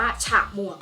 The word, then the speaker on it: ฉมวก: สะกด ดัง นั้น จะ อ่าน แบบ เอา หอ นำ เข้า ไป ด้วย ดัง นั้น คำ นี้ จะ อ่าน ว่า หอ มอ อัว กอ หมวก นะ หมวก น่ะ นี่ ดัง นั้น ใน คำ นี้ จะ อ่าน ว่า ฉมวก ค่ะ ไป ดู ต่อ ค่ะ